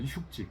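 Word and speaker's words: 畜之: 흉지. 기른다고 할 때는 흉지로 읽습니다. 축자인데요. 가축이라고 할 때는, 명사할 때는 축이라고 읽고, 동사할 때는 흉이라고 있습니다.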